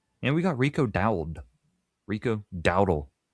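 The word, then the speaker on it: Rico Dowdle: Rico Dowel best way to say his name who had back-to-back rushing 1000 rushing yard seasons with Carolina and Dallas reuniting with Mike McCarthy.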